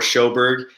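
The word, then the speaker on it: Sjoberg: saying so underscore shoburg shoburg is spelled sjo b-e-r-g no one can say my last name right let's be honest and first time around so shoberg kieran how about you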